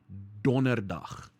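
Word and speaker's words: Donderdag: do we pronounce that think about one of the reindeers of santa's sleigh right dunder donnerdach thursday thursday right thursday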